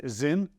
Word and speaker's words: Sinn: watch just call this zin zin zin I think it's pronounced z i n but spelled s i n n that has some weight